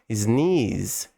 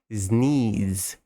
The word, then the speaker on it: sneeze: Sneeze. Espirrar. É esse som de Z aqui mesmo, apesar de terminar com o E. Isso é bem comum na língua inglesa, às vezes a palavra termina com E.